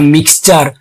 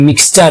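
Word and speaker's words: mixture: মানে ওই মিশ্রণটিকে তাহলে মিক্সচার এখানে দেখো এম আই এক্স মিক্স টি ইউ আর ইর উচ্চারণ হচ্ছে চার তাহলে টি ইউ আর ই শেষে যদি থাকে উচ্চারণ করবে চার মিক্সচার তাহলে তিনি সেই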